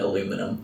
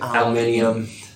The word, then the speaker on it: aluminium: You still call it aluminum. That's not some pretend that proper English is say over here. Aluminum's not. How do you say it? Aluminium.